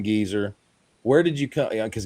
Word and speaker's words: Gieser: The Gieser name, Gieser. You pronounce the second vowel, and then the S is kind of a Z.